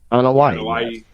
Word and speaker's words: Anoa'i: But, Roman apparently made an announcement that the entire Anuwa family bloodline legacy. Is that how you say it? Anoa'i? Anoa'i. Yeah, the Anoa'i family will be in attendance.